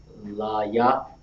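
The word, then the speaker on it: לוי: Now we pronounce Levi in the Hebrew. La ya. Very good. La ya. All right. That's how we write it. Legible. Okay. So Levi is La ya.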